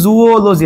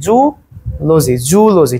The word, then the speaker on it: Zoology: এই আমরা বলি জুওলজি, আসলে মেইন উচ্চারণ কি? জুলজি, ঠিক আছে? জুলজি।